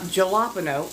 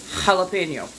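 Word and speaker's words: jalapeño: you would know that J is pronounced more like H so it's not galapo it's jalapeno even if you're pronouncing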